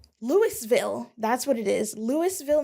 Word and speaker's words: Louisville: Like Winston County, Louisville is named for Lewis Winston, which I'm assuming is Lewis and not Louis. Yeah. Yep, and it says pronounced Louisville.